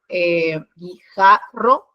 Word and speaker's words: guijarro: Y acá, por ejemplo, en este ejemplo, guijarro, en la sílaba ja, es donde se pronuncia más fuerte. Entonces, esta es su sílaba tónica.